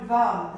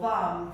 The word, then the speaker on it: vam: Tuck your chin hard up, lift the pelvic floor, and in the pelvis, in that pulse, the sound vam, the syllable vam, V-A-M.